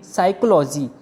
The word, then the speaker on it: psychology: जैसे कि PSYCHOLOGY, इसको हम कहेंगे साइकोलॉजी। यहाँ पर स्टार्टिंग में PS है, पर हम इसको साइकोलॉजी कह रहे हैं। इस वर्ड में P साइलेंट रहेगा, P की कोई साउंड नहीं आएगी।